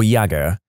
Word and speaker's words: Jagger: to name my son Jagger pronounced either Jagger or yagger or shot and yagger